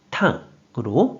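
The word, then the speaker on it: 胆: 그래서 쓸개담이 되었고 뜻으로는 발음이 없고 음으로만 탕으로 발음한다고 했어요.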